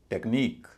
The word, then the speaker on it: technique: आई क्यू यू ई कई लोग इसे टेक्निक कहते हैं टेक्निक लेकिन क्या टेक्निक सही उच्चारण है आइए देखते हैं नियम कहता है कि आई क्यू यू ई इससे अंत होने वाले शब्द में स्ट्रेस अंतिम सिलेबल पर पड़ेगा अंतिम सिलेबल तो यही है एन आई क्यू यू ई तो इसमें जो आई है उस पर स्ट्रेस होगा उसको बोला जाएगा ई और पूरे शब्द का उच्चारण होगा टेक्निक टेक्निक टेक्निक और अंत में ई